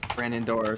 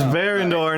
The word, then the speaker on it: Varandor: i've never been to brandon door so uh it's baron it's varandor not brennan do i pronounce the